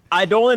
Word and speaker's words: Eidolon: Eidolon or Eidolon, they're both correct phonetic pronunciations of the word.